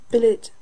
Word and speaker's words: billet: mind scene melony mankind Billet does not rhyme with ballet bouquet wallet Mallet Chalet